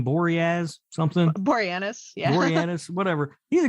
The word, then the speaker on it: Boreanaz: Boreanaz, yeah.